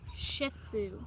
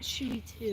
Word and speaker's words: Shih Tzu: Shih Tzu, Shih Tzu. not Shooty Too.